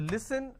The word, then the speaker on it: listen: Okay, it's pronounced at li, s, n. Listen. They replace the s with a z and they say listen. It's not listen, it's listen.